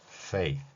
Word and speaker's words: fake: 소리를 내는 방법은요. 윗니로 아랫입술을 물고 fake 이렇게 발음하는 것입니다.